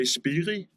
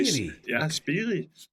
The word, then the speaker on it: Spirii: Well, here in Denmark, we say Spirii, but you can say Spirii, but you can say Spirii as well, so that's fine with us.